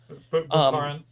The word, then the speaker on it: Bukharin: Lenin and, if I remember correctly, is it Bukharin? Is that how you pronounce it? Bukharin.